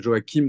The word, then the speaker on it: Joachim: Jo et et et vous avez de deux prononciations dans la version française et catholique du prénom c'est Joakim dans le nord de la France et join dans le sud et moi ça vient